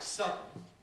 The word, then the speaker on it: sudden: So, in a word like sudden, we have two syllables, sudden. But arguably, this represents the sequence sudden.